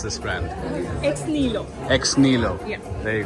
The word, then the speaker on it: Ex Nihilo: This is what it is, and please tell us how exactly do you pronounce this brand? Ex Nihilo.